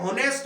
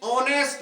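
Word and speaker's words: honest: से देखें तो ये नेस्ट मैन लिख रहा है अगर वर्णमाला के हिसाब से देखे तो ये क्या लिख रहा है नेस्ट मैन लेकिन इंग्लिश का शुद्ध उच्चारण क्या है ऑनेस्ट मैन क्या है ऑनेस्ट मैन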